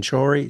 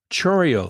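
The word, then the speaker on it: Chourio: what his name Jackson chy chy I cannot say it properly Chio thank you Jackson Trio you know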